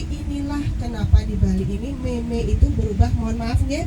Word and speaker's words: meme: Ya meme, M-E-M-E, meme. Bapak itu bape, B-A-P-A.